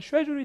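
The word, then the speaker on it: schedule: 사실 LC에서 뭐가 중요하냐면 이 단어는 발음이 2개로 나죠. 미국에 가시면 스케줄, 영국 가면 쉐줄이 되기 때문에 그런 사운드들을 여러분이 아셔야 돼요.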